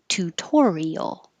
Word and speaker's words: tutorial: Tutorial. And that second T stays a T because it's in the stressed syllable.